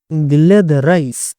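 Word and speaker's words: Gilles de Rais: एंड of course मैं सही था, गिले द राइस। वैसे ये एक फ्रेंच नेम है, ठीक है।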